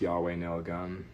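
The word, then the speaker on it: YHWH Nail Gun: It's by a band that's spelled Y HWH Nail Gun I believe is pronounced Yahweh Nail Gun.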